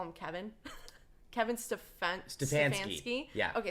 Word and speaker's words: Stefanski: Kevin Stefanski. Yeah. Okay, Stefanski.